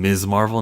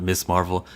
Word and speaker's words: Ms. Marvel: Her name is fucking Ms. Marvel, not Miss Marvel.